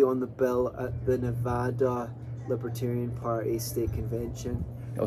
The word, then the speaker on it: Nevada: you go to nevada most outsiders try to make it fancy and they call it they say nevada but it's really nevada that's how i pronounced that i know you